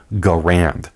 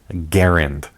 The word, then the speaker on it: Garand: name you know it's Garand rhyming with errand John Garand himself told